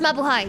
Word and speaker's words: mabuhay: It's pronounced mabuhay.